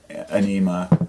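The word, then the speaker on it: Ænima: like you know lateralis and undertoe and uh anema that's how it's pronounced um but I was never a tool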